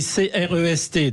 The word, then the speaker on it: Crest: alors effectivement, ça s'écrit C-R-E-S-T dans la Drôme, et on dit Crest comme s'il y avait un accent circonflexe, en quelque sorte comme forêt, vous voyez, forestier, forêt, Crest, et c'est la ville chère à Hervé Mariton.